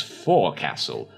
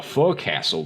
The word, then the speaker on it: forecastle: Okay, so Ophelia would pronounce it as forecastle. The forecastle deck.